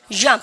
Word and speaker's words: jump: jump. 알겠죠? 여러분들 그래서 jump, jeep, jogging. 하시겠죠? 여러분들 그러니까 발음 연습도 많이 하셔야 됩니다.